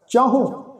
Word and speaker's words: चाहो: ये जड़ा शब्द है जी चाहो, चचा हाहे नूं औंकड़ उपर टिप्पी लगा के उच्चारण करांगे जी।